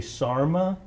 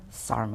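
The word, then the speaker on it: SAHRMA: he joined in is this an acronym Gonzalo should I be saying how do you pronounce it um you can say Sarma Sarma or you can say San Antonio human resource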